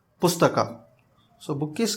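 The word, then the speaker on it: ಪುಸ್ತಕ: If we split it, it is Sta has Sa accent, Ta accent, and both gets S and Th gets combined with A vowel. S and Th gets combined with A. So that became Pusta. And the next letter is Ka, which is very simple. K plus A is Ka. That is Ka. And the end result is Pustaka.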